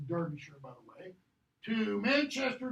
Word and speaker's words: Derbyshire: Warwickshire here, north to the northern part of pronounced Derbyshire, by the way, to Manchester to Blackpool up here, okay?